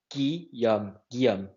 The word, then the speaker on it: Guillaume: it gee-gees enough so my name is key yum-yum-yum it sounds like Chinese when I say like that Geum I know it's hard